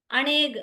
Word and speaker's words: अनेक: अनेक, अनेक शब्द है, अ उसका साइलेंट है, एस बना हुआ है। उच्चारण में अ नहीं बोलेंगे, पौग दो नेक बोलेंगे, लेकिन शब्द है अनेक।